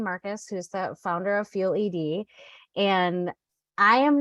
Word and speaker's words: FuelED: the founder and partner at fuel ed it's actually how it's pronounced um we are an